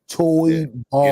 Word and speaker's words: Toybarr: So I want to shout out our sponsors, and I've been saying it wrong for the last couple of weeks. Let me say it correctly. Toy Bar.